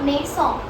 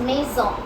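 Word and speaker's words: maison: लेकिन अगर S middle में रहा कोई वर्ड के, for example मेसॉ, मेसॉ इज a house, so इट्स नॉट मेसॉ, इट्स मेसॉ, Z sound, okay.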